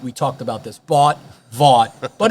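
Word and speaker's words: Vought: Voight.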